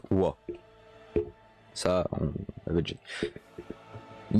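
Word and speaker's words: は: Donc note, hein, la particule ha se prononce wa.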